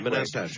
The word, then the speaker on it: Manastash: How do you pronounce the name of your town, Manastash? Manastash. Manastash.